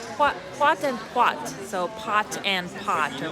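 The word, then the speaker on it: pot-en-pot: Okay, I was pronouncing it wrong. Pot and pot.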